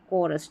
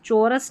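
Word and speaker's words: chorus: केओस और यह है कोरस। चौरस नहीं है।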